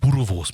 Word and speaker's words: boerewors: For Pete's sake, my bro, it's flippin' pronounced boerewors, man.